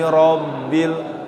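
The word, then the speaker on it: رَبِّ: Alhamdulillahi rabbil. Ro tebal apa tipis? Ro tebal, tafkhim karena dia berharokat fathah. Rabbil alamin.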